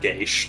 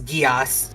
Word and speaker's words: Geass: Look, I'm an Irish person, and I know it's fucking pronounced Geish. Yeah. Well, you know what? In the dub, it's Geass, so... Yeah, I know. It's because the Japanese pronunciation, which is wrong.